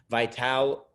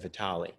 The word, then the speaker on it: Vitale: topics will deal with vital and brown principally brown i guess i should pronounce that vitale um then we'll be